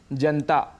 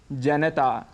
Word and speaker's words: जनता: पर चर्चा करते हैं हम अक्सर शब्द प्रयोग करते हैं जनता जनता लेकिन इसका शुद्ध उच्चारण है जनता यहां पर न में जो अ स्वर है उसको हम छोड़ देते हैं जिसे हमें नहीं छोड़ना चाहिए और पूरा बोलना चाहिए जनता ऐसे ही आकाशवाणी